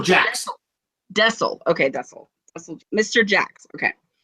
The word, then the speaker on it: Dessel: Dessel Jax. Dessel.